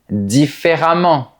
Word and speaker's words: différemment: Attention, pour les adverbes, la terminaison E-M-M-E-N-T rime avec le mot diamant. Voilà d'autres exemples. Évidemment, récemment, différemment, violemment, etc.